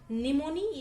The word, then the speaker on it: pneumoniae: त्यानंतर निमोनी या शब्दाचं स्पेलिंग व्यवस्थित लर्न करायचं आहे, कारण इथं हा पी सायलेंट आहे. एन पासून तुम्ही याचा उच्चार सुरू करता, परंतु स्पेलिंग पी पासून स्टार्ट होतं, म्हणून याला सायलेंट म्हणतात. पी हा याच्यामध्ये सायलेंट आहे.